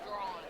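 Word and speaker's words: Draughon: It's pronounced drawn. H-O-N. Okay. And it's pronounced drawn like D-R-A-W-N.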